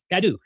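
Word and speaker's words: Cadoux: Okay, Cadu. I did it. Cadu.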